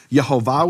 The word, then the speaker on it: Yehovah: the Vatican junk box Yehovah with the full vowels that was known to be the pronunciation of his name this is